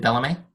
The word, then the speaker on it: Bellame: below or something cool like that with it Bellamy Bellamy okay I said it right the Bellamy